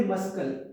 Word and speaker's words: muscle: Don't say muscle, it's muscle.